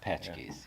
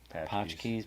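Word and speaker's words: pączki: Patchkies. Yeah. Patchks. Patchki. I was trying to put too much.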